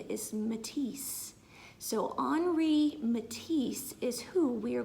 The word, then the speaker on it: Henri: a French artist so when you live in France you pronounce things a little bit differently than you do here in Ohio so his name is pronounced onry and his last name